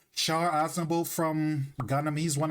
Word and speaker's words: Char: I know it's like Shah, but like I can't help pronounce it. I can't help pronounce it. I can't help but pronounce it Shar sometimes.